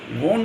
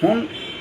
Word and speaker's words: von: VON, वॉन को फॉन pronunciation होता है जर्मन लैंग्वेज में।